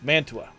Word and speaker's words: Mantua: berlin mature or mara too i can't remember spell it you're on you're in the ballpark it's mantua anybody else to answer that question i don't